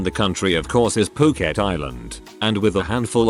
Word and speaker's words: Phuket: It wasn't until just about the end that I realized that I had been pronouncing Phuket as Fricket the entire time as I was reading my cards.